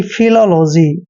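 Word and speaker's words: philology: ओ जी वाई दोस्तों पीएच का उच्चारण हम फ करते हैं और आई को हम ई की मात्रा लिखते हैं एल को हमने ल लिखना है ओ को ओ की मात्रा पढ़ते हैं एल का उच्चारण ल करेंगे ओ को फिर से ओ की मात्रा पढ़ते हैं और जी वाई को जी पढ़ते हैं यानी कि फिलोलॉजी दोस्तों फिलोलॉजी होता है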